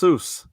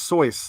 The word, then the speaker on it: Seuss: year was that apparently it wasn't even pronounced seuss it was pronounced soy like it rhymes with voice really yeah i always